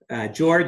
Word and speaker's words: Jorge: much great it is to your point yeah pronounced at George spell Court hey so my dad is from